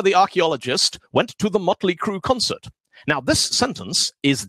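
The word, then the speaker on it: Mötley Crüe: think it looks cool first time motley crew went to germany on a tour the audience were all shouting mueller crew murillo crew because that's how you pronounce these letters with allah and they had no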